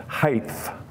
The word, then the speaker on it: height: some people mispronounce this they put an H on the end height there's no h I think they get